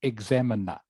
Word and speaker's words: examiner: Okay, I know this part here is pronounced minor in a different context, but in this context, when it is like this word, it is pronounced examiner, examiner, examiner.